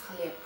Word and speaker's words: хлеб: We spell хлеб, but we pronounce хлеб.